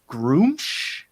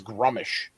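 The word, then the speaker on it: Gruumsh: I used Grumsh in a campaign that I ran, and my first pronunciation of it was Grummish.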